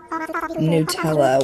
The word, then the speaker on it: Nutella: Nutella was how I was told to pronounce it, but I've always read it as Nutella.